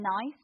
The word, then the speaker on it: gneiss: I'm saying nice, but actually it's gneiss, nice.